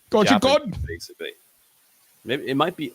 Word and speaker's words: Kozhikode: Well, I wouldn't assume they'd have the same English rules of the E, so I would imagine you pronounce it. Kozhikode. It would be like God. Kozhikode. Kozhikode. No, it wouldn't be ode. Maybe it would be odd. Kozhikode. Kozhikode. Yeah, that sounds probably a bit more accurate.